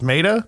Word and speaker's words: Maeda: May is MAE though, so just Maida. Wouldn't it be just Maida? But it's Japanese pronunciation. So But he ain't also. Yeah. That's actually how you pronounce it.